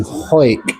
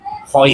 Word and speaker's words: Hawick: We're in the Queen's Head in Hawick, in the borders of Scotland. Hawick. Not Hawick, like it would actually be pronounced. It's not phonetically.